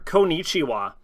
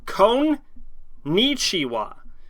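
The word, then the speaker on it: こんにちは: time I learned per kichwa sorry it's con nichiwa so it's KO it's like KO n and then there's a second n because it's ni chiwa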